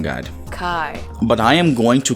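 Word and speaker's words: chi: I know this isn't pronounced shy. It's pronounced Kai. I went through the trouble of looking it up. Wikipedia, incidentally, has a very helpful pronunciation guide. Kai.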